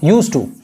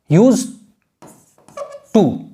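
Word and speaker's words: used to: कैसे करेंगे राइट देखिए यूज यूज टू ऐसे यूज्ड टू पूरा नहीं पढ़ेंगे ड साइलेंट रहेगा यूज टू यूज टू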